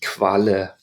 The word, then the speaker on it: Qualle: Next up we have QU, which I mentioned that in German we pronounce like KV in English. This word is an excellent word. Jellyfish. Die Qualle.